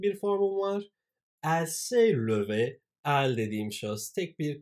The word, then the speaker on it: levé: Eğer kadınsam, kesinlikle "e" harfini eklerim. Ve elbette, ikisini de "levé" diye telaffuz ediyorum.